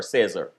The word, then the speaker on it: Cesar: Cesar or Cesar? Caesar, but in Spanish is Cesar. Cesar. All right. So tonight it's Caesar.